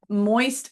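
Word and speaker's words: Moyst: Okay. Moist Oyster Company. But it's spelled M-O-Y-S-T.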